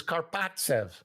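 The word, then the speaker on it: Karpovtsev: He says, Karpatsev. I go, okay. I call Pierre Pagé back and I said, we'll take this guy, Karpatsev. And so we make this trade, Mike Hurlbutt for Alexander Karpatsev, who flies over the next day or within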